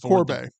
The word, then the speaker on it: Corbet: okay next we've got uh Brady Corb or Corbett I'm not sure how to pronounce that last name it's Corb Corb for the brutalist so we haven't seen